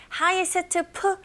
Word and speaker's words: highest: highest, p라는 자음이 연속적으로 세 개가 나왔기 때문에 중간에 t 사운드 굉장히 안 들리게 거의 안 들리게 발음하시면 돼요.